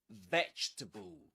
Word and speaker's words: vegetable: Vegetable. You say it. And let's repeat the next word, too. Comfortable. Comfortable. Okay. Three syllables in both.